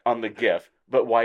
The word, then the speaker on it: GIF: that are like oh the Creator said is Je did they say it I think they did everybody that says that they say it like that and here's my philosophy that guy is totally trolling everybody that says that he's like oh yeah I call it gif yeah I think he's